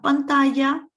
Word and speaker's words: pantalla: Se cayó, past tense, la pantalla, the double L is pronounced as a Y, la pantalla.